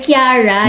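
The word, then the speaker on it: Chiara: Well, kasi diba, Shara yung pronunciation nun sa akin. Pero minsan Kiara din. Pero kay Miss Kiara, ay Kiara yung tamang pronunciation pala.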